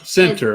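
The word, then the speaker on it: Centre: say it century center say it is center or century center okay it's center alabama brandon am i saying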